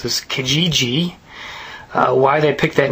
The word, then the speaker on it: Kijiji: It's called um I'll try and pronounce this. Kijiji.